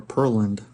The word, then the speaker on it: Pearland: And there's actually a neighborhood in Pearland, or Pearland, depends on, who you are, how you say it, tomato, tomato. Pearland, Texas, called Sleepy Hollow.